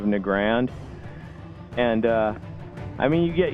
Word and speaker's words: Nagrand: it like wow Crandall always says Negron instead of nagrand and I mean you